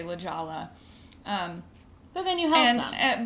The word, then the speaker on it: La Jolla: Like saying La Jolla instead of La Jolla. So you would say, oh, it's pronounced La Jolla, so people know what you're talking about.